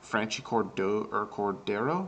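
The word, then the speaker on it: Franchy Cordero: Franchi Cordero, I believe is how you say his last name.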